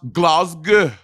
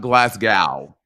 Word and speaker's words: Glasgow: about it Jacob is is pronounced Glasgow not glass gal honey but also I